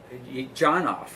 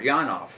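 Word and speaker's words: Janov: Dr. Janoff, or Janoff, depending on how you want to pronounce it, years ago came out with a book called The Primal Scream.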